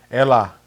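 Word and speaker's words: Έλα: time he would talk if his phone rang Ella right that's how you say it and then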